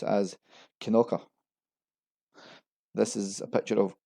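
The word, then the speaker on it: Kilconquhar: Located in the east of Fife, this is another name that doesn't sound as it's written. Kolkunkuha, Kolkunka are two of the most common mispronunciation. Challenging to everyone except locals, this is actually pronounced as Kinoka.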